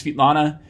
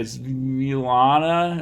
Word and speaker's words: Svetlana: Her name is Svetlana, and you'd be amazed at how people stumble over the pronunciation of her name, including producing it with some sort of not so nice words. But you often hear people say Zilana or whatever.